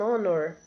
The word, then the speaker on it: honor: O H de honor é silencioso.